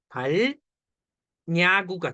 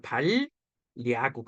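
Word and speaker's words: 발야구: 그러니까 우리 어떻게 돼 발 야구가 돼 어 이렇게 발음 안 하잖아요 당연하죠 왜 이거 뭐라 그래 리을 니은 신라 랄 이거 뭐라 그랬어 유마 되잖아 그러니까 발리구 되는 거지 이해돼 니은 첨가가 일어나고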